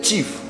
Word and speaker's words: chief: Alright, say it correctly. Say chief. Chief.